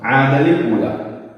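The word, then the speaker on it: عادًا الأولى: ആദലിൽ ഊല, ഇവിടെ അൽ ഊല എന്നായതുകൊണ്ട് വസ്ലിന്റെ ഹംസ കൂട്ടി വന്ന സമയത്ത് ഉച്ചാരണത്തിൽ കൊണ്ടുവരില്ല. അപ്പൊ ആദലിൽ ഊല എന്നുള്ളത് ഇവിടെ തൻവീൻ ഫത്ഹ ഉണ്ട്, തൻവീൻ ഫത്ഹ.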